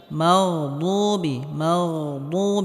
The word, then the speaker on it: المغضوب: মাগদুবি, এখানে গয়নে হালকা আওয়াজটা জারি থাকবে। মাগদুবি, এখানে দাল বলা যাবে না, বদ মোটা হবে।